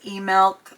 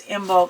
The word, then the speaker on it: Imbolc: So Imbolc has, I've seen that pronounced as E-Milk, but I've also heard it pronounced as Imbolc, so I don't really know.